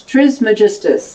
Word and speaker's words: Trismegistus: Trismegistus, that's how you pronounce it.